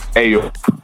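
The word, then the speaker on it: Ey Up: to pronounce the new track from you it's hey yo you say ayo yeah so obviously i know it's spelled e-y-u-p with a day and that's usually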